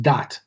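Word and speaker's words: Da'at: called dot d-a-a-t in in hebrew it's it's pronounced dot and what it prevents is knowledge but it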